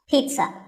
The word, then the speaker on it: pizza: not a pizza and it's not a pizza there's no z sound in this word it's peat sun pizza another food word that's